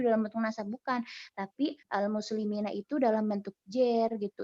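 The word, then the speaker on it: المسلمين: Nah, kenapa kok di situ dibacanya nggak al-muslimini? Ya karena kaidahnya seperti itu gitu. Nggak boleh dibaca al-muslimunu, nggak boleh. Nggak boleh dibaca al-muslimini, itu nggak boleh juga.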